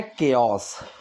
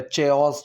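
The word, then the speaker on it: chaos: इसकी प्रोनंसिएशन है केओस। क से है। ठीक है? चोस चोस कुछ नहीं है। इसकी प्रोनंसिएशन होती है केओस।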